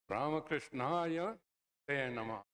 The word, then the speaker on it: Ramakrishnaya te namaha: Then Ramakrishnaya te namaha. Not Ramakrishna, yate namaha. If you say yate te namaha, it makes no sense whatsoever.